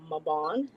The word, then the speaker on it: Mabon: Happy Mabon or Mabon, as some people also pronounce.